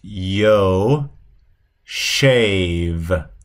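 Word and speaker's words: יושב: So you would pronounce both of these, the first one here is yo shave, yo shave, yo shave, and that's the word to sit, to sit.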